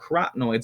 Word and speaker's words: carotenoids: Carotenoids is one of them. That's how you pronounce that, carotenoids.